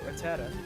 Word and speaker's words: Rattata: I always call them Rattatas, because that's just what I used to call them as kids, but I'm pretty sure that the formal pronunciation of it is Rattata.